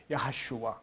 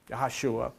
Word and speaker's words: Jehoshua: Jehoshua, pronounced, the J is pronounced as a Y, Yehoshua. Yehoshua, that's his name.